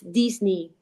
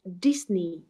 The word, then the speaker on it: Disney: Pero bueno, la influencia de nuestra lengua materna pues hace que esa E la pronunciemos muy como es, E. But of course in English is E, it's E, so it's Disney in this particular case.